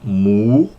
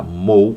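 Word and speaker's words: μου: ali do yon e a quem pronuncie e m tá usa ali a o omicron junto aon Tá mou a quem diga Mou e quem diga mu Ok então aqui é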